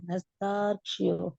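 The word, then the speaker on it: नस्तार्क्ष्यो: நஸ்தார்க்ஷியோ. ஆமா கரெக்ட் தான். That's how it is pronounced.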